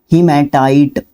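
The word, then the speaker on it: hematite: बोल सकते हो हिमेट हिमेटाइट हिमेटाइट भाई थोड़ी सी स्पेलिंग ध्यान रखना हिमेटाइट या हेमेटाइट आप इसको बोल सकते हो आयरन और जो है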